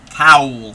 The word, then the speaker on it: cowl: Not cow, not like moo. Cowl.